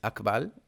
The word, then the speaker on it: Akbal: Now for the Peninsular Maya, it's Akbal, Akbal, no apostrophe. I had a little cat called Akbal when I lived in the peninsula.